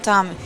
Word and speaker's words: Tommy: Is it Tome? How do you pronounce it? Tommy. Tom. Tommy. You can call it Tommy.